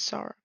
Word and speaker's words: Sarah: arm, his teenage daughter Sarah, I would pronounce it Sarah, but I think in the show, or not in the show, in the game, it's pronounced Sarah, so I'm gonna say Sarah, peeks out um, the